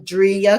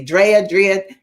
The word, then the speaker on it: Dria: Sometimes I say that wrong and she puts it on her thing, Dria, because you want to say Drea. It's Dria.